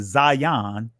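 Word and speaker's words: zayin: is showing you how the Zion which they call it today zayeen uh was corrupted through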